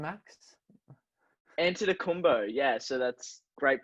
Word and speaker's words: Antetokounmpo: Antetokounmpo. Yeah, so that's great pronunciation there.